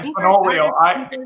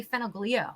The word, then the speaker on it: Fenoglio: Yeah, Fenolio. Kayla, I'll hold my last name. It's Fenolio. Fenolio. I was going to say Fenoglio. Yeah, I've been called worse, but the G is silent.